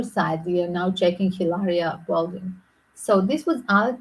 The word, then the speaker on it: Hilaria: use that word um if we want to talk Spanish it should be Hilaria without age is never pronounced so uh the great